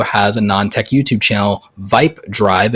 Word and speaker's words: VYP Drive: So my friend Viper is Viper, the man about tech, but he also has a non-tech YouTube channel, Vipe Drive, and it's spelled VYP Drive.